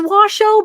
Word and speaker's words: Washoe: was saying it wrong so it is Washoe Ben Jenkins why does it spell like shoe though because it's spelled s-h-o-e but I know it